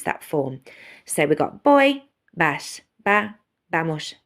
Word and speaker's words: voy: which is I go notice my pronunciation I'm not pronouncing as a voy sound it's a boy sound so boy I go